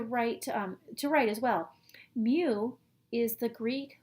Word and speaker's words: mu: to write to write to write as well mu is the Greek letter mu it's pronounced me like the sound of cat makes since the